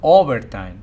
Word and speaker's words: overtime: pronounce always, and also overtime. The first syllable is accented. Same thing here. We have 3 syllables, overtime. And the first syllable is stressed. It's longer, it's louder, it's higher in pitch.